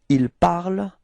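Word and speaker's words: ils parlent: because you pronounce them il parle, elle parle. Okay, so you don't pronounce this nt, so phonetically you get the same form as for je, tu and il, elle of the singular.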